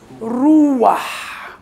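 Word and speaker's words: רוח: تخيل ان البتح غير موجودة، عايز حد ينطق ريش بالشورق وحرف ساكن حيط، اسمها ايه روح. اما انا بقول شورق يبقى شورق ضم صريح طويل، يبقى روح، مع مرور الوقت الحيط مش باينه، فيحط بتح ما بين الحيط والضم الطويل، فتنطق ايه احبه روح.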